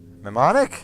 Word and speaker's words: mnemonic: day as a control mnemonic I think the M is silent semester is pretty well